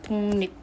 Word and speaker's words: 독립: 그리고 이런 것도 있어요 독립 독립 발음 어떻게 하냐면 독립으로 발음하는게 표준 발음이거든요 자 그러면 지금 바뀐게 기억은 이응으로 바뀌고 ㄹ은 니은으로 바뀌었어요 비염이 없는데 기억도 리을도